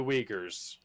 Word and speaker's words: Uyghurs: there's an asian um the uyghurs the jugers or the wiggers oh that's how it's pronounced yeah okay alex i